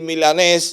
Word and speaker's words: Milanés: señor Milanes. ¿Milanes o milanés? ¿Cómo lo pronuncio? Bueno, puede decir milanés, eso tiene un origen no muy de mucha alcurnia.